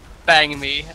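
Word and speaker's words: bánh mì: The correct pronunciation is Bang Me, or something close to that. It's not Ban. It's Bang. Oh.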